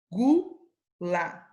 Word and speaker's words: gula: Em qual palavra a letra U não é pronunciada e, portanto, compõe o dígrafo? Né? Gula. Eu estou falando gu. E guerra. Eu falo a letra U? Eu não falo.